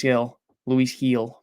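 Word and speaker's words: Gil: Luis Heel, my mistake. I think I've been pronouncing that wrong.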